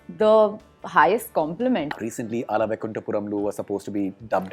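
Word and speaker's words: Ala Vaikunthapurramuloo: Recently, Ala Vaikunthapuramlu was supposed to be dubbed in Hindi. Well done, you And- pronounced the name really well.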